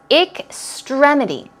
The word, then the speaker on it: extremity: to some more words extremity notice it's extremity stress goes right there it's an i k ik sound excelled extremity means extreme